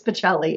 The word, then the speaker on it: Baccelli: It's Baccelli, everybody.